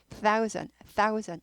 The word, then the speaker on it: thousand: thousand가 1000이니까 1000 뜨 발음이죠. 뜨 발음. 아까 month도 뜨 발음. 네. 발음기어로 따지면 우리가 일명 번데기 발음을 하죠. 뜨는요. 혀가 이 윗니 아랫니 사이에서 밖에서부터 안으로 들어가면서 새는 발음이죠. 해서 thousand 이렇게 되고요.